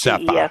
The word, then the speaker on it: CEFAA: CEFA, by the way, that's how you pronounce the strange name of this organization, the CEFAA. It's pronounced CEFA. Okay. Which is very odd, but that's how they say it in Chile.